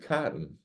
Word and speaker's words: Catton: I think I always said cotton. well, it's The cat? Yeah. Catton.